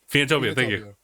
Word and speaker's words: Phoenotopia: And this one, whose name I cannot really pronounce, Phoenotopia. Phoenotopia.